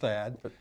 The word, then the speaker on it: THAAD: Yeah, it's pronounced THAAD.